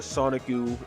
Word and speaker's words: Sonikku: But yeah, so the Sonikku is because it's how you say Sonic in Japanese, and it's how it's spelled, of course.